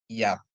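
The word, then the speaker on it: יָד: E ini Yod ya Yod dikasih kamat dia bacanya jadi ya ya ditambah dalet ta nikut dia jadi bacanya Yat Ya yang artinya adalah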